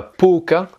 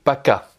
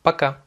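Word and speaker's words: пока: le a c'est à dire que c'est pas poca mais paca et donc le fait qu' on insiste sur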